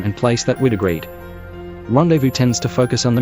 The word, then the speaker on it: rendezvous: Rendezvous comes from the French word rendezvous, and has kept almost the same spelling, only losing its hyphen, and a somewhat similar pronunciation.